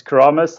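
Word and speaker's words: Keramas: Yeah, so that's it's Keramis, and it's a surf spot in Bali.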